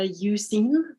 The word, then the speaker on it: Euzen: pronounce that yeah well we chose to pronounce it uh using but it's from old